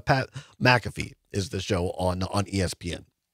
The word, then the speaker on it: McAfee: Yes, it's Pat McAfee is the show on ESPN. That's the correct pronunciation.